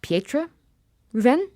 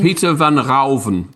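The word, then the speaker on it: Pieter van Ruijven: 1657, when he owned, is it Pietra Ruven? Am I saying it right? Peter Ruven. Peter van Rauven. Thank you.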